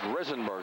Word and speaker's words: Rizenberg: rizenberg in the lineup it is rizenberg the correct pronunciation we've heard the PA announcers use two different pronunciations but John Tong's pronunciation correct as Chadwell hits the